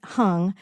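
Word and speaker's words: Hang: an instrument called the hung it's prince it's spelled h-a-n-g but pronounced hung and and it's it's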